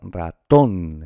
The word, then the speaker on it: ratón: Pues el acento prosódico está ratón, está aquí, en la ton, ¿verdad?